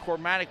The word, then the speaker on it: Cormanick: But again, nobody gets in too close without being supervised, and Cormanick was doing that. I know it's Cormanick, but sometimes I get the accent on the wrong syllable.